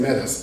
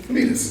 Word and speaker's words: Metis: After that is that tiny little moon that he talked about, Metis, which I've been mispronouncing for the last year. Uh, I've been saying Metis, but it's Metis.